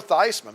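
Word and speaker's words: Theismann: How about Joe Thyman back when he changed the pronunciation of his last name in order to promote his Heisman case.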